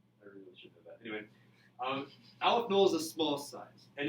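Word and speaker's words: aleph-null: 0 is pronounced null, so you don't pronounce this Aleph 0. It's Aleph Null, or Aleph 1, Aleph 2.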